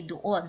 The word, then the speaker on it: doon: Okay, we don't have the silent letter. So we say doon.